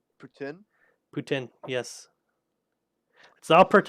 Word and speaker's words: poutine: it no it's Putin it came from Quebec and that's how you pronounce that but yeah a lot